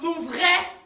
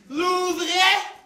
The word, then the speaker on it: Louvre: It's pronounced Louvre. Louvre.